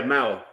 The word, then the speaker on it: Mao: Like Mayo, is it Mayo? Mao? How's it pronounced? Yeah, Mao. Mao.